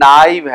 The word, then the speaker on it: knife: Knife की pronunciation में ध्यान रखिएगा. इसको बहुत से लोग knife बुला देते हैं. ये knife है.